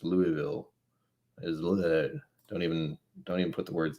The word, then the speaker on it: Louisville: Do I keep saying Louisville? I've been calling it Louisville because that's how I read it, and everyone keeps telling me every time I say it, it's Louisville.